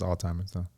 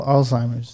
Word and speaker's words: Alzheimer's: how you say it i think it's alzheimer's oh alzheimer's alzheimer's yeah okay yeah it is i'm sorry i was